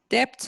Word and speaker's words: debt: Debt load. Yeah. B is not pronounced, Homero. Debt load.